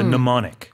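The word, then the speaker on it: mnemonic: n i c MN it starts with an MN but m is silent so it's a pneumonic m n e MN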